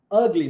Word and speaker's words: ugly: Quando você fala a palavra feio em inglês, começa com U. Como é que você pronuncia? Ugly. Ugly, não é ugly, é ugly.